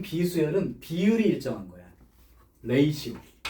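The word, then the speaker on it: ratio: 레이시오. 라티오라고 읽었다가 욕먹었어요. 레이시오입니다.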